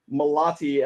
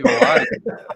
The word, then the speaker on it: Malaty: You actually even the T in Malaty. I don't even do that. I'd say Malaty. Lazy with it.